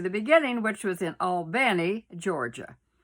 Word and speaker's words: Albany: beginning, which was in Albany, Georgia. That's how they say it down there. Now, if you're a Yankee up in New York, it's Albany, but down south, it's Albany.